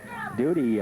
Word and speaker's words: Doughty: Doody I I say Doughty. I went to school with a Doughty, but it's spelled spelled very similar, but it's Doody, d o o d y.